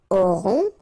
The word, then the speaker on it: aurons: Nous aurons, final S not pronounced, O and N together, nasal, on, A-U-O.